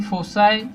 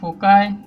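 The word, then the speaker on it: foci: ठीक आहे, त्याला तुम्ही फोसाय, फोकाय किंवा फोकस जे वाटते ते म्हणा.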